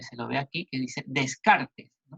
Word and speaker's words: Descartes: lo ve aquí dice descartes en francés se pronunciaría de carga el empirismo se asocia